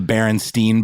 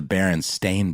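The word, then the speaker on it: Berenstain: favorite example of this there's another one with the Berenstein Bears versus the baron stain Bears so many people believe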